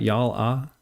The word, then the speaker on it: Yalla: So they have their social, voice chatting, Yalla Chat.